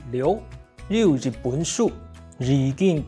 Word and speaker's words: 哩喲: In Hakka, the word "哩喲" is pronounced as "li" and "io" in a harmonic combination, which is lioˊ.